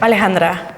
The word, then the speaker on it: Alejandra: Alejandra, a little bit more soft.